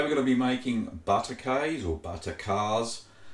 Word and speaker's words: Butterkäse: It's pronounced butterkäse.